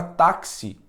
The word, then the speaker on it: táxi: conhecida é a palavra táxi táxi porque aqui no x galera é como se fosse isso aqui ó como se fosse isso aqui ó seguinte como se escrevessemos assim ó ataque se ali no x aparece dois sons em apenas uma letra porque no valor do